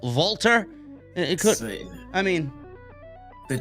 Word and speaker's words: Walter: They couldn't rename him under a different spelling of Walter or the way it usually is pronounced, Volter.